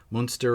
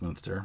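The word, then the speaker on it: Münster: and that's like like i believe it's pronounced monster right i think so i think it's monster um so several influential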